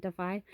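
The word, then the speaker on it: DAFI: boxes to send to defy which is disabled artists Foundation Incorporated it's d-a-f-i but I think they pronounce it defy and they take like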